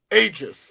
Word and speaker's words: Aegis: Yeah, like pretend it's a J and then you're all good. Aegis.